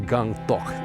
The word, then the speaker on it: Gangtok: This town has such a cool name, Gangtok. It sounds like a rapper's name. Yo, what's up, Gangtok? But, uh it's actually pronounced Gungtok.